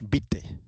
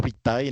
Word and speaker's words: vitae: Fonsite, cuando está la a y la e juntas se pronuncian como e. Fons vite, vite, no vitae, no, sino bite.